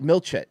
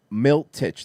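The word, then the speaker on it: Miletich: white thought that it was uh uh pat milchet miltich that that's milt titch that said it right so everything he's saying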